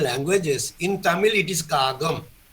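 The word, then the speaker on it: காகம்: What we say kaka in all Indian languages, in Tamil it is kagam, pronounced. Written as kaka, but pronounced as kaga.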